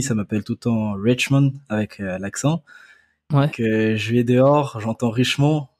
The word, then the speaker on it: Richmond: Est-ce qu'il faut le prononcer avec l'accent anglais? C'est mieux avec l'accent vu que c'est un prénom anglophone. Mais bon, en Ouais, France, il y en a pas beaucoup qui le font avec l'accent, donc je prends.